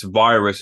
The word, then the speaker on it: Viruzz: I mean first off it's pronounced you know because you know in Spanish so your V is pronounced like a b and then he's got